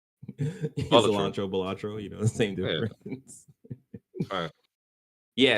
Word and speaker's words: Balatro: They say Balatro. Cilantro, Balatro, the same difference.